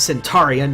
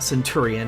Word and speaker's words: Centurion: rid of the Centurion it's Centurian not centuri in I'm sorry I have